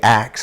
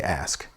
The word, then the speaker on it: ask: settle for less so we couldn't say acts we had to say ask because that's the way it's spelled that's the way it reads and mom didn't uh